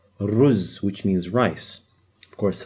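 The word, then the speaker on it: رز: If I add a re with a z, it's pronounced as ruz. Now notice there's this little u in there. That means there's a little bum over here. So it's ruz, which means rice.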